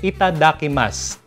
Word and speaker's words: itadakimasu: ibig sabihin non so tandaan niyo uli ita dakas Actually parang may silent you yun eh Ah Kumbaga ang spelling non is it t a d a k i m a s u So yung u doon parang sinilent nila eh